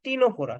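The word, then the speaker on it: Ctenophora: অ্যান্থোজোয়া অ্যান্থোজোয়া আর টি তে হবে তোমার কি টিনোপোরা টিনপোরা বানানটা এরকম সি টি ই এন ও পি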